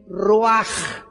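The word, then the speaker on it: רוח: Y en el versículo 29 dice que se le salió el roj. Se escribe ruch, el espíritu.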